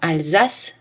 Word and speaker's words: Alsace: Le S se prononce Z dans Alsace, subsister, et les mots avec le préfixe trans.